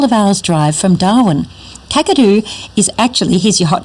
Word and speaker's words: Kakadu: Kakadu is actually, here's your hot tip for the day, Kakadu is actually a mispronunciation by non-Indigenous people of a language that was spoken in that area, Gagaju, which is now an extinct language.